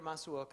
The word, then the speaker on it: Masuoka: Peter Masuoka. I know there's some other pronunciations that you list in here.